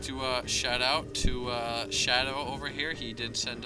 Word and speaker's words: SHDW: Red Terran, allied with SHDW, which we think is going to be pronounced Shadow, so we're going to be calling him Shadow, and he is the Blue Zerg.